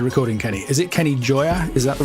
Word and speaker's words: Gioia: before we started recording Kenny is it Kenny Joya is that the right way to say your